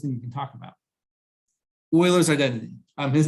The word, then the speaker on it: Euler: skip the coolest thing you can talk about euler's identity um his name is pronounced euler although people say euler but it's euler so a couple things we